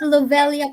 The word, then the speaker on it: Lovelia: Is it Lovelia po or Lovella? Lovelia. Lovelia Lovelia po. or Lovelia? So, Lovelia.